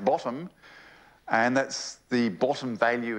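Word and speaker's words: ⊥: modeled by a special symbol upside down T pronounced bottom and that's the bottom value in a in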